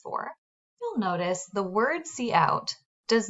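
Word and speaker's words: cout: braces I'm going to type c-o-u-t pronounced C out then two less than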